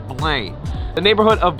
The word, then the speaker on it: Belém: learned that in Portuguese, this word is spelled differently and it's kind of pronounced with a nasally sound, so you kind of say Belém. You can even hold your nose to get the right sound. This kind of sounds like Belém.